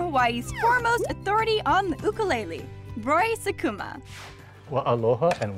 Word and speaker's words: ukulele: The Hawaiian style ukulele, the jumping flea, is pronounced in Hawaii as ukulele, as opposed to the more popular form ukulele.